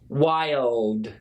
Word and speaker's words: wild: But wide and wild are a little bit easier because this is one syllable, but this is basically two syllables, okay?